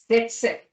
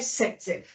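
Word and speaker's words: Zaitsev: जो साइंटिस्ट इसको देने वाले थे वो थे जेटसेफ, बट उनके नाम में जेड साइलेंट है, उनका नाम है सेटसेफ।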